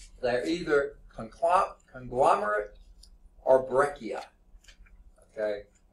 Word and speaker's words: breccia: either conclude conglomerate or breccia okay assume I'm pronouncing that right it could be dressier okay but I think it's breccia okay you'll see this